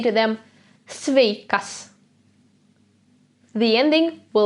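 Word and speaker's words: sveika: the word svakes swakes if there is a girl in front of us then the greeting turns into sveka see it's the same as stakes but with an a at the end this a in the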